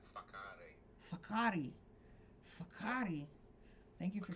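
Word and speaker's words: Whakaari: Um, to go back to your piece on Wakari, am I pronouncing that correctly? Yeah, WH is becomes an F, so it's more like a fakari.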